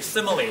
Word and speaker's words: simile: everyone say after me simile s simile it sounds like the word similar right so a simile